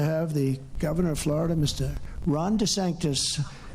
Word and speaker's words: DeSantis: the governor of Florida Ron DeSantis they said no no no it's D santis that's good branding right